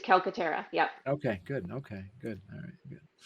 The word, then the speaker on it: Calcaterra: What I just want to make sure I say yes, Calcaterra. good. All right, good. All right. You had it right. It's Calcaterra.